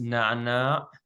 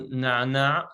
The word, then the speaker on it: نعنع: It has the doubled sound of which is a unique sound to Arabic that doesn't exist in almost any other language in the world. It's pronounced very back in your throat.